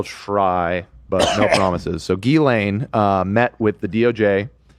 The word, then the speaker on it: Ghislaine: It's Gain. It's really Gain. Yeah, I thought it was Gain, but it's actually Gain is the French pronunciation. Okay, I will try, but no promises. So, Gilane uh met with the DOJ uh deputy attorney